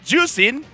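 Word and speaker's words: Zhuxin: guys okay how you pronounced zask it's it's juicing how do you pronounce this zask that's the one and we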